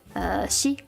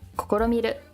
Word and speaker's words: 試: Shi, kokoromiru, tamesu.